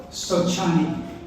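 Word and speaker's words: sochani: for the Cherokee is a plant they call of chin I'm going to spell that for you s o c h a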